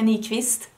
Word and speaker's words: Nyqvist: This is a collaboration between Kaleidos and me, Nyqvist.